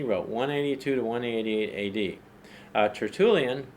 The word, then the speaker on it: Tertullian: Tertullian, pronounced by some Tertullian, he wrote a little